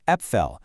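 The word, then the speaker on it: Äpfel: The German word for apple is appell. But if you pop an umlout over that a, it becomes epel, which means apples.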